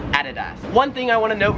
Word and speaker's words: Adidas: In America, we would pronounce this as Adidas. However, here in Australia, it is Adidas.